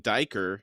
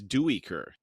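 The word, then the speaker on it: Duiker: and then we've been saying diker he says do weaker wow okay crop's easy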